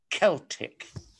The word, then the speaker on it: Celtic: that i might have given you a soft c in celtic which is the proper pronunciation and now subhane night